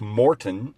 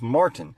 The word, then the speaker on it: Martin: It would be the same thing as if you took my name and instead of putting an A and an I there, you put two O's. My name would then be pronounced Morton instead of Martin.